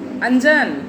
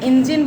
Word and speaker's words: इंजन: इंजन को लोग क्या बोलते हैं गांव में, अंजन। क्या बोलते हैं, अंजन बोलते हैं। या उसको सही सही इंजन बोलना चाहिए ना, जो